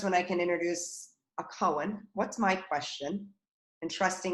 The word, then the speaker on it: koan: and building that muscle cohen is spelled k-o-a-n great question i'm looking